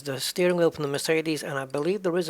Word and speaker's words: Mercedes: Mercedes. That's the pronunciation lesson for today.